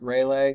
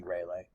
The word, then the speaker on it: Rayleigh: waves S waves and I say rally waves it may be pronounced raylay for some reason I started saying Raleigh 25 years ago and it's it's stuck with me but it's probably Rayleigh or Rayleigh now this energy can